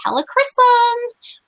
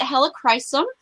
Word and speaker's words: Helichrysum: Some people pronounce it Helichrysum. I think it's okay, whichever way that you choose to spell it or say it. Actually, there's only one way to spell it. Pronounce it is the word I'm looking for. It all means the same thing.